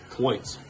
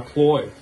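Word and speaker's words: Cloyes: Cloits. Okay. Cloits. That's a cloit timing chain. There's no T. A cloy.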